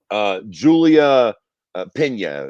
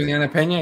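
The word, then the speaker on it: Julianna Peña: Julia Pena, is that how you pronounce the fucking person? Juliana Pena, yeah.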